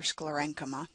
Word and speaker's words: sclerenchyma: Sclerenchyma, or SCLAR - EN - KA - MA.